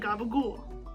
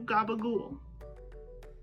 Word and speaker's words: gabagool: in or in capicola or in those southern vernaculars becomes a g in gabagul and the p becomes a b that final vowel almost disappears entirely or is heavily reduced and over time the pronunciation of the entire word becomes even more americanized until finally we get to gabagool so there you have